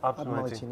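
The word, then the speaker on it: Alpes-Maritimes: Alpes Alpes Maritime.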